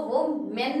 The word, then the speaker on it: women: हम इसको वो मेन नहीं पढ़ते हैं, कैसे पढ़ते हैं, विमेन.